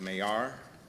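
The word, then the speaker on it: Maillard: this is the mayor it's pronounced mayar reactions after a frenchman who discovered this i don't know about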